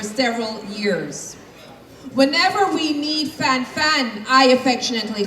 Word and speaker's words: Fan'aye: goes to none other than Miss Fan Sunlight, pronounced Fan I.